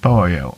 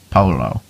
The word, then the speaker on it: pollo: the Mexican word pollo, which is pronounced pollo and not polo. Two L's make a Y sound in Spanish.